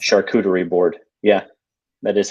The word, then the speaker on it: charcuterie: Is that how you pronounce it? Charcuterie board.